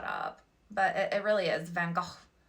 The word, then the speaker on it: Van Gogh: I went to the Van Gogh Museum. I said it wrong. It's Van Gogh. Like, I have to say it right.